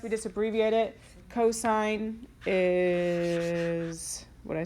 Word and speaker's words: cosine: Cosine is the Adjacent. Nice. Adjacent over the hypotenuse. Okay, so cos, don't call it that. It's cosine. C-O-S, we just abbreviate it. Cosine is, what did I say?